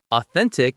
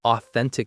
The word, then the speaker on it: authentic: The stress is on the middle syllable. Authentic. The th sound is the same as in think.